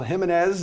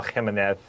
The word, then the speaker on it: Jimenez: Miguel Angel Jimenez at plus 150, also known as the most interesting man in golf.